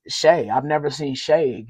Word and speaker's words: Shai: I thought it was Shai, but it's Shay.